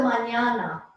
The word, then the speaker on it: mañana: Hasta mañana. And that should have a tilde over it, that first end. Hasta mañana. The tilde means it's pronounced like nya.